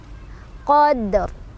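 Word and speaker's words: قدر: Qadr. Dalnya adalah qalqalah sughra. Karena huruf qalqalahnya sudah sukun dari sananya, jadi sukunnya sukun asli, bukan karena berhenti. Cara bacanya adalah dipantulkan, pantulannya kecil aja ya.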